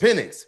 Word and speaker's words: Penix: Penix.